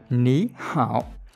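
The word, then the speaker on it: 你好: Có nghĩa là khi hai thanh ba mà đứng gần nhau thì thanh thứ nhất sẽ chuyển thành đọc thành thanh hai, thì chúng ta sẽ đọc là ní hảo, được chưa?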